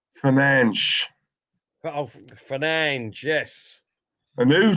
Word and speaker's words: Fernandes: No, it's not Fernandez, is it? It's Fernandes.